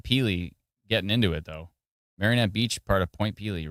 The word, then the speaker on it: Marinette: Marinette, not marionette.